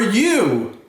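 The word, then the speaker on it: ewe: in Lake I saw he is for you oh do you know to you as ewt that's right it's a female sheep Eileen the you was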